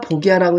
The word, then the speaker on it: 僕射: 꼭 그 시간에 했던 것처럼 그러더니 그 낭과 보기라고 읽어야 돼요 보 보라고 읽지 말고 나이라는 그 관명 보기라는 관명 있어요